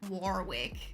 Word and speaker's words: Warwick: say like something like Warwick yeah no we can't do for us the r is like basically silent so it's like wck